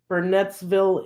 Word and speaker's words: Burnettsville: Currently reside in Burnettsville, Indiana. Spell the city. Just like it is pronounced. Burnettsville. Burnett's, as in Bernetts. Ville.